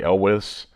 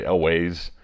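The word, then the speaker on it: Elwes: know it's starring Carrie elwis I've always pronounced his name wrong I think I I I looked it up it says elwis but a lot a lot of people say elways but it's a you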